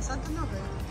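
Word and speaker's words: Saint-Honoré: Как она правильно будет по-французски произноситься? Санто-Норе? А, Санто-Норе.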